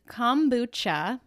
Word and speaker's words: kombucha: never pronounce it right so what's the official pronunciation so it is kombucha but i've heard just about every variation possible